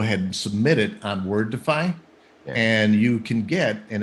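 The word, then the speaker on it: Wordefi: the side projects we've got is something called wordify and it's word it's spelled w-o-r-d-e-f-i so ken let's say the word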